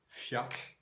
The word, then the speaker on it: fjall: For instance, the way that modern Icelandic pronounces 2 L's as a TL, so the word for mountain is fjall, but written Fjall.